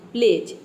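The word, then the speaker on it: pledge: बाद जीई आया है इसलिए यहां पर डी लेटर साइलेंट है यहां पर केवल पी एल ई हो गया आपका प्ले और जी ई हो गया ज प्लेज ठीक है डी को हम प्रोनाउंस नहीं कर रहे हैं प्ले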